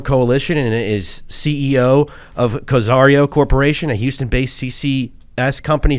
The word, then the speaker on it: Cozairo: So before I should let you know, Cozairo is how it's pronounced, and I did not tell you that. So Cozairo.